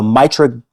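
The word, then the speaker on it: Mitragyna: It is commonly comes from the Mitragina. We're going soft G today. Yep.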